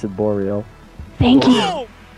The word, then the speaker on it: Boreal: this a deep well it's actually hard for english people to pronounce it because it's a French word but we pronounce it boreal thank you boreal re oh yeah boreal